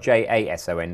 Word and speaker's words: JSON: But they were all spelled J-A-S-O-N, not J-S-O-N. I had some people complaining that that's how I was pronouncing Jason.